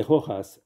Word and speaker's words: Rojas: Saint-Simon de Rojas, R-O-J-A-S. R-O-J-A-S. A-S. En espagnol, le J se prononce R.